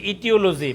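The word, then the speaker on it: aetiology: ইটিওলজি শব্দ হচ্ছে ইটিওলজি, বানানটা এইটিওলজি। হ্যাঁ, এর উচ্চারণটা সাইলেন্ট থাকবে, এর উচ্চারণ সাইলেন্ট থাকবে, ইটিও, ই দিয়ে শুরু হবে, ইটিওলজি।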